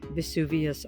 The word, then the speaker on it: Vesuvius: Martin, San Martino, and again, Vesuvius off to the corner, or Vesuvio. Vesuvio is the Italian pronunciation, Vesuvius is the Latin.